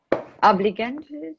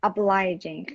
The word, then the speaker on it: obliging: I do a lot of work with Marco, who's very بس خودم اینو بگم نه گم کردم obligant بگو obliging خیلی سخته ها تلفظ این Marco, who's very obliging, supportive, and tolerant.